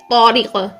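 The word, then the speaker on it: طارق: ना, यहाँ पर देखिए हम उर्दू में क्या कहते हैं, तारिक, ऐसा ही है। लेकिन जब हम इसको अरेबिक में प्रोनाउंस करते हैं तो हम इसको बोलेंगे तो, ता नहीं, तो क्या कहेंगे, तौरिक, तौरिक।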